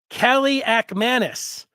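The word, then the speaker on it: Kaliakmanis: to be Nathan Nathan Kelly Kelly ackmanis is how you say this name and it spelled out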